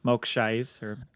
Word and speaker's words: Mok Shaiz: who is having a chat with the mayor, Mok Shaiz, that's how you say his name.